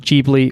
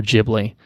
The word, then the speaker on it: Ghibli: usually pronounced gbeary well in the West it is more commonly pronounced Gigli or Ghibli so I think I've been going with the latter pronunciation on my end or we can call it Ghibli who cares it's fine